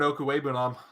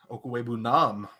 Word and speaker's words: Okwuegbunam: I just need to get you to pronounce Albert Okwuegbunam. Albert Okwuegbunam? Okwuegbunam.